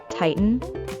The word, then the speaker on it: tighten: Note that when the sound t is followed by an sound within a word, as in the word tighten, make sure you hold the T and then add an without releasing the tongue from the gum ridge.